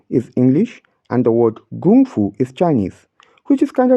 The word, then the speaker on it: Gōng Fū: chart in this method we spell the word Gung Fu as k-u-n-g-1 f u notice that one after